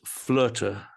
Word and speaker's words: Flöte: Icelandic word meaning destiny, and flöte is the German spelling and pronunciation of the instrument I play.